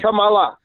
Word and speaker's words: Kamala: How do you pronounce Kamala? Is it like There you go. You just said it right. Kamala.